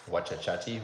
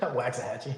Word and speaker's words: Waxahachie: Wachachachi? How do you say it? Waxahachie.